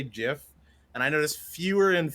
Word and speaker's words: GIF: oh he says it's he says it's jiff uh that's that's technically the correct way to say it but oh no yeah